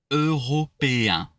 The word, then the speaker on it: européens: Européens. Européen. That's soften the R because I know it's tricking. It's tricking you.